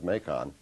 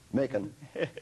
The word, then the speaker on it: Macon: you what you've already taught me how to pronounce mekong macon making georgie that's that's instructive uh you're taking